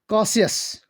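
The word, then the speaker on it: Cassius: और जो पहला वाला हमारे पास है इसकी प्रोनाउंसिएशन है कासियस, और जो हमारे पास यहाँ पे है उसकी प्रोनाउंसिएशन है कास्का।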